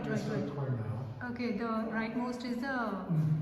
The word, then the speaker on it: Ezra Cornell: Ezra Cornell.